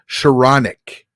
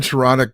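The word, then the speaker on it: Skowronek: Ben Sharanek. Ben Sharonic deserves it.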